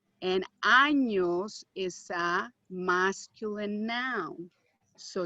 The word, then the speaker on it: años: If you don't pronounce this correctly, especially with this particular word, if you leave it without the ñ, it means a part of the body that people usually don't want to talk about. Okay? And you definitely do not have 21 of those. So make sure that you pronounce the ñ.